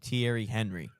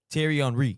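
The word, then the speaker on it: Thierry Henry: You're not going to disrespect the greatest Arsenal player of all time by calling him Tierry Henry. Terry Enri.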